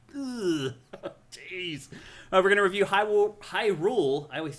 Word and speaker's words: Hyrule: I knew a kid in in grade school who called it Herule. Oh, really? And we're like, that's definitely not how you pronounce that.